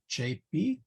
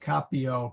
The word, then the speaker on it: capio: then uh capio so chapee notice ka the hard c before the a hard c before the a but a soft c before the e the long e and then captain so now actually in classical latin it will be capio capita capi in classical latin all c's are hard so probably makes a